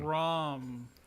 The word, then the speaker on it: Braum: Braun or Braum? I thought it was Braum. Is Willa making me Braum. say the name wrong? See, what did he spell? I think Willa baited me. It is Braum with an M. Willa said it wrong.